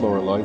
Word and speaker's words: Laurelai: And it is pronounced Laurelai. That's the most common pronunciation of this name.